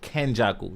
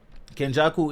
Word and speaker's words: Kenjaku: that person you know what I mean so Ken Jackal sorry I gotta get these pronunciations right um but yeah so kenjaku is fighting I think chozo right chozo the